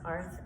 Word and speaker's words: Artha: The meaning of ARTH, in Sanskrit, it's actually pronounced ARTH, and the meaning of